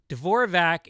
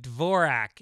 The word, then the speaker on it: Dvorak: You've mispronounced my name on your podcast a few times, saying Dvorak instead of Dvorak.